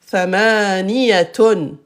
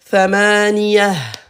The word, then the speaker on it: ثمانية: Thamaniyatun. Thamaniyatun. Thamaniyatun. À l'arrêt. À l'arrêt. Hop. Ta marbuta se prononce ha. Ha. Hello. Thamaniyah.